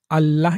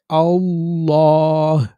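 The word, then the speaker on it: الله: যেমন এখানে আল্লাহ বলার লামের আগে আ আছে, অর্থাৎ জবর আছে, তাই আমরা আল্লাহ এরকম না বলে পুর করে আল্লাহ। আবার বলছি আল্লাহ বললে এটা বারিক হয়ে যাবে, এরকম উচ্চারণটা সঠিক না।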